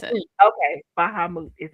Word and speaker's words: Bahamut: Sky said, Bahamut. That's how you pronounce it. Okay, Bahamut is how.